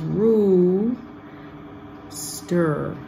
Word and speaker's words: rooster: is the word rooster so r-o-o is Rue stir so book and look are different this oh this oh oh is oh rooster that's it